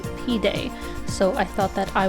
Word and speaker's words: pide: And then I also got the Turkish dish that was recommended to me, which I believe is pronounced pide. I may be wrong, but it's spelled P-I-D-E.